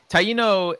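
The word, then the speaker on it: Taíno: and I mentioned earlier that you were of Taino the senses that how I pronounce did I pronounce it wrong or yes that's that's right okay taiino uh that is the it was that the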